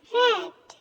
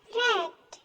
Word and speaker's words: read: Jadi penulisannya sama, tapi cara bacanya berbeda. Red. Cara bacanya seperti nama warna. Red.